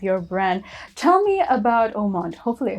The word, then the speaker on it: Haut Monde: it it's a french it's a french word it means high society okay uh like a